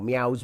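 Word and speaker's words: Myau: And he goes, that meow is my name, or meow's my name. So yeah, he's pronounced meow, but I will be pronouncing it as Mayo.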